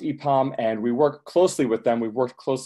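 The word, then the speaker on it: IPAM: rest of the country a pom is its IP AMS pronounced a pom and we work closely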